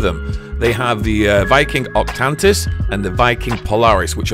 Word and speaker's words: Octantis: angle it looks spectacular I still have no idea why I'm calling octaneous but it's actually called octantis I can't pronounce that